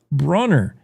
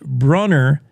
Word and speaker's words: Brunner: Beyond the Wreckage, Brunner, I think she pronounces her last name Bruner, publishes a book on the Bomber Mountain crash.